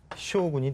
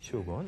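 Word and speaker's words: 将軍: 중앙의 지배자, 그것을 이제 우리말로는 이제 장군이라고 하겠죠. 근데 일본식으로 읽으면 이게 바로 쇼군이 됩니다. 쇼군.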